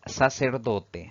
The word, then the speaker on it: sacerdote: palabra de análisis es sacerdote si dividimos en sílabas esta palabra tiene cuatro sílabas sin embargo la mayor fuerza de voz al pronunciarla recae en la penúltima sílaba contando de derecha a